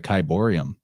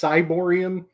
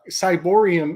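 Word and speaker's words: ciborium: So I've been calling it a Kyborium. I think it's pronounced Cyborium, to be nerdy about it. Oh, like Cybele. Like Cybele.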